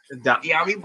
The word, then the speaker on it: Dyami: Is it Dami Brown? Is that how you say it for me? Dyami Brown.